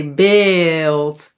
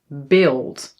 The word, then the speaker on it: beeld: And then lastly, this sound, dubbele a is usually pronounced long like a but sometimes when it's in front of an l or r yes, it sounds a little bit more like i.